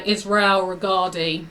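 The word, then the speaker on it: Israel Regardie: um I was looking up a book by Israel regardi that's how you pronounce his name and there was somebody on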